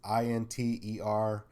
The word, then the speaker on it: Interemptors: Interemptors. I'm not. I mean, it's Interemptors, like contemptors, but get rid of the con and enter. Put in inter.